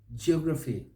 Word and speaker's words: geography: the word becomes finalized how about geography geography geography the may say geography geography yeah stress is on the second syllable in either case but here geography geography